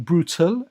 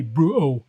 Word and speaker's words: brutal: So in the UK, or in London especially, we've got a habit of not pronouncing the T's, and people mock us for it, right? So, like, instead of saying brutal and putting a bit of emphasis on the T, it will be brutal, brutal.